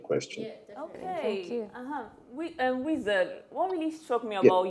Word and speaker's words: Wizerd: So they started calling me Wizard. I was going to go with my name before, but I kind of like it. So I kind of changed the A to the E instead. So it's spelled Wizard with an E.